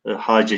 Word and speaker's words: hoca: Fakat hocam derken C'den sonraki H'yi terk etmiş. Hoca kelimesi arkadaşlar dilimize Farsçadan girmiş. İşte hoca şeklinde biz Anadolu'da çoğunlukla telaffuz ediyoruz, fakat daha çok Orta Asya'da hace şeklinde telaffuz ediliyor veya çoğul yapılacağı zaman hacegan şeklinde telaffuz ediliyor.